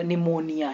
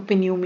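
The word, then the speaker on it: pneumonia: पहले अगर पी है देखो निमोनिया निमोनिया की स्पेलिंग तो बहुत मतलब पढ़ ही नहीं पाते लोग इसको पिनम या कुछ पढ़ते कुछ भी है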